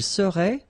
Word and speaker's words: serait: Je serais, same thing here, final S not pronounced. Tu serais, final S not pronounced. Il serait, final T not pronounced.